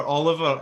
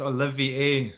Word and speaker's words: Olivier: Yeah, so it's not Jennifer Oliver anyway, it's Olivier. You added an extra A in there as well.